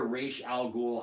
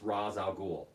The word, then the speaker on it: Ra's al Ghul: is the racial thing every time I hear race al ghul I just feel like they didn't do any of their you know homework yeah Tiffany from the other room homework yeah I just feel like they didn't do their homework I mean cuz everybody knows it's Ra's al Ghul it's been Ra's al Ghul ever since the character was created why would you call him race man it just just